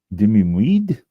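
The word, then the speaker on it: demi-muid: And it's pronounced dimweed.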